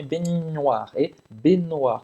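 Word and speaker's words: baignoire: é bem no ar benoar como se fosse eu entre longo bem no ar então cingi que esse g não existe tá benoar b no ar e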